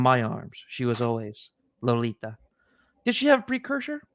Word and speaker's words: Lolita: So he's like Lolita, like the ta was with an H at the end.